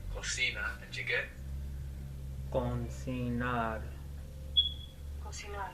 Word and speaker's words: cocinar: Cocinar. cocinar with the accent on the end.